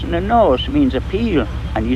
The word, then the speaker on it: Peel: Now, a stockade or fortress in the Norse means a peel, and you spell it P-E-E-L-E, and they say that's how Peel got its name.